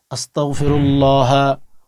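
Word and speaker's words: أستغفر الله: আস্তাগফিরুল্লাহা ওতুবু ইলাই কি বললাম? আস্তাগফিরুল্লাহা ইলাইহ আস্তাক বলবেন না। অনেকেই আস্তাক বলেন কাফ উচ্চারণ করেন। বাট এখানে উচ্চারণ করবেন আসতাগফিরুল্লাহ।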